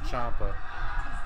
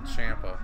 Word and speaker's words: Ciampa: McGuinness is calling him Ciampa. I think Johnny calls him Ciampa too. If you pronounce it in the Italian way, it's definitely Ciampa, not Ciampa.